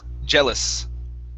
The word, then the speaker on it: jealous: word here is jealous this the uh e a here is a short e sound gel jealous genres very good uh